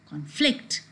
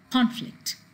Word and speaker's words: conflict: then you see that the word like conflict the stress is on flicked and the same word when it's a noun you stress in the first syllable like a conflict but unfortunately this is